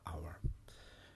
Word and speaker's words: hour: an umbrella an hour because the h is silent as well okay so it needs and rather than a hour so that's just a very